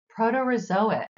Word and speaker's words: proterozoic: Precambrian are the proterozoic archaean and Haitian eons proto-resoic Pro te rho zo ick protozoic eon our can is an eon Haitian hey